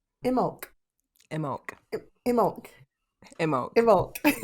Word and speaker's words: Imbolc: And today we're going to be talking about, can I pronounce it right? Imbolc. Imbolc.